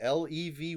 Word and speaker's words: Levy: As far as I could see, Levy, it's pronounced Levy.